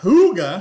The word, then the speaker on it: hygge: to the way she says it it's not hygge no like a model a photo well she did kinda say it though she did but her channel is hygge homestead yes which hygge means cozy and danish and danish yes so